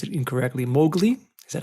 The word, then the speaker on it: Mowgli: have this uh I'm gonna pronounce it incorrectly Mowgli is that how you pronounce it that's correct Mowgli so what does Mowgli do what is the